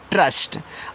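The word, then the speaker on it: trust: इसको पढ़ते हैं ट्रस्ट। अब देखो यहां पे टी आर से आपका बन गया ट्रा। वहां हिंदी में आप त्र बनाते थे। लेकिन यहां टी से ता नहीं बनता। तो त्र नहीं बोलेंगे।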